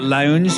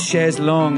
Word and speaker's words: chaise longue: And they've spelled they've put the O and the U round and called it lounge because they think of the lounge chairs. It's chaise longue is the thing, and that drives me nuts.